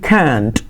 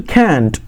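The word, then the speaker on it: can't: ಇಲ್ಲಿ ಇದರ short form ಆಗಿರುತ್ತೆ ಕೆನಾಟ್ ಇದ್ದು ನೋಡ್ರಿ, ಬ್ರಿಟಿಷ್ ಇಂಗ್ಲೀಷಲ್ಲಿ ಕ್ಯಾಂಟ್, ಪ್ರೊನೌನ್ಸಿಯೇಷನ್ ಹೆಂಗೆ ಕ್ಯಾಂಟ್. ಅದೇ American English ಕ್ಯಾಂಟ್, ಕ್ಯಾಂಟ್, ಕ್ಯಾಂಟ್ ಅಂತ ಉಚ್ಚಾರಣೆ ಮಾಡ್ತಾರೆ.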